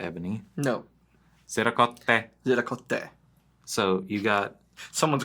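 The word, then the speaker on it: ziricote: You're putting the accent in the wrong syllable or something at some point. Zeracote. So you got the Zercote. I love that's how some people that we know used to say Zercote. I'm like, that sounds not right to you?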